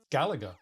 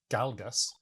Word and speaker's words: Galaga: far as I know, it would be Galaga, right? It's not Galgas.